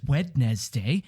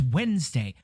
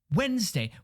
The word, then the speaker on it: Wednesday: those extra letters for nobody says wetness day it's Wednesday Wednesday you could take out four letters in that word and it'd be pronounced the exact same way why can't we